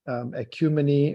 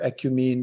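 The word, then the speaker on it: ecumene: as what he called the Sanskrit ecumeny or ecumin depending on how you pronounce it and then yeah in English I hear both people I hear that cumini and ecumin but anyway um the term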